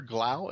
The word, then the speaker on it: Glau: And Firefly is Summer Glau. Is that how you pronounce her name? Summer Glau, yeah.